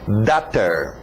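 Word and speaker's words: daughter: ler o inglês a lembra da pronúncia de water então só muda o w para um D datter datter datter duas coisas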